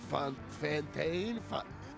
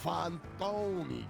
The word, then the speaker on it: Fantoni: He's like, Fantane? I'm like, Fantoni. Gotta really put the accent in it.